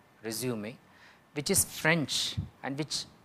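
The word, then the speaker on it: résumé: Whereas CV had this Latin origin, resume, again mind the pronunciation, it is not resume, which is mispronunciation, it is resume, resume, which is French and which just means summary.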